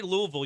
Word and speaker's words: Louisville: with it too now when you say Louisville you got to say it like there's a bunch of just crap in your mouth Louisville awesome uh congratulations